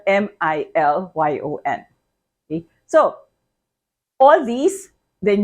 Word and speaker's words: milyon: So the million is also million, pronounced the Filipino with a Filipino accent, million, and spelled M-I-L-Y-O-N.